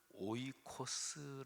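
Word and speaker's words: οἶκος: 설명을 좀 들여야 됩니다 집 이거를 오이코스 라고 발음합니다 우리가 사는 지 이거를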